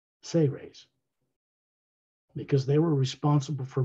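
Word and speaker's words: Seras: from the say race s-e-r-a-s pronounced as if it was spelled s-a-y hyphen r-a-y-s say rays because they were responsible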